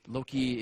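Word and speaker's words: loci: in memory palaces because Loki is a non-english word and it doesn't really mean that much it's spelled l o c i and I like stations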